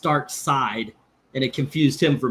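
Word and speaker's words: Darkseid: It's spelled Dark Seed, but it's pronounced Dark Side, and it confused him for many years.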